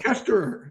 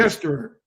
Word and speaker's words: Koesterer: your interviews online, and the way you pronounce it is just, right? Koesterer, yes, sir. Kester. So you do pronounce the two ers at the end, We do. Kester. Yes.